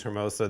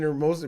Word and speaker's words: Hermosa: Somebody no, said, Dennis Rodman stop pronouncing the H in Hermosa Beach, Bartz.